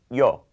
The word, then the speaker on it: yo: the proper form accordingly the Spanish pronoun for I is easy it's yo like uh yo Adrien it's always yo whether you're a woman or a man yo yo so to Spanish speakers